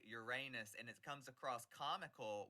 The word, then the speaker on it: Uranus: But the term I've said it needs to sound more like the original god Uranus, and it's spelled Ooh. O-U-R, Okay. Uranus.